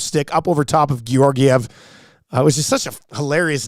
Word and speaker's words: Georgiev: How many other words have 2 hard G's in it at the beginning and the middle? Name another one. Georgiev.